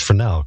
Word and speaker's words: Fresnel: spelled fresnel but pronounced frel because it's French and fruu it's named